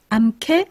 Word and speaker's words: 암캐: 그런데 이 개 앞에 암자나 숫자를 넣어보면 어떻게 발음됩니까? 암캐, 숙캐. 그러고 보니까 개가 캐로 발음이 되네요.